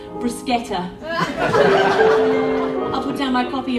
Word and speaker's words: bruschetta: We'll cross eyes over a crowded cafe as he explains to the waitress that no, it's actually pronounced bruschetta.